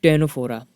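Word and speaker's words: Ctenophora: है नेक्स्ट अगला है टैनफ्लोरा यह भी सी से स्टार्ट होता है लेकिन सीड साइलेंट है स्टेनो फॉर प्रॉपर्टी के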